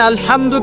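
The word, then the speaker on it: الحمد: আচ্ছা, এখানে আলহামদু কেমন করে উচ্চারণ করেছেন? গলার বলতে কোথা থেকে? মাঝখান থেকে না?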